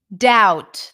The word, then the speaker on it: doubt: that's what I said doubt that's another great word oh I have a few more for you doubt doubt doubt no B doubt not D D um